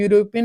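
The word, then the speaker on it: European: अपना क्या होता है यूरोपियन यानी या यानी या से आता है तो ये अपना हिंदी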